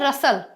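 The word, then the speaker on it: rustle: अब है रसल। अब देखिए टी नहीं, टी साइलेंट है वरना रस्टल हो जाता।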